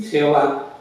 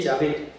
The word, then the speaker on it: Yahvé: Por eso la Iglesia Católica tomó la decisión de usar la pronunciación original de Yahé en vez de Jehová.